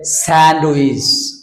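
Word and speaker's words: sandwich: আছে বাচ্চাদেরকে যেটাকে বলে স্যান্ডউইচ স্যান্ডউইচ আসলে স্যান্ডউইচ ডিড সাইলেন্ট হবে স্যান্ডউইচ অর্থ সচ ওকে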